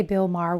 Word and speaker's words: Bill Maher: By the way, I have to say Bill Maher with rhymes with jar because one of you